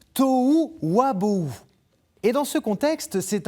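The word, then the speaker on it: תֹהוּ וָבֹהוּ: Voilà, on l'a notre touu qui était écrit et prononcé en hébreu biblique, tou wabou.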